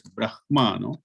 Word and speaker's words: Brahman: that is how although it's written in english as brahman h m it has to be pronounced in brahma right that will come after the ma so brahma and then these two